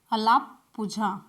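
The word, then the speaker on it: Alappuzha: है तो केरल के कहां पर अलापुझा में अलापुझा लिए यह इसका शुद्ध उच्चारण और इसी तरीके से पहली-पहली में क्या-क्या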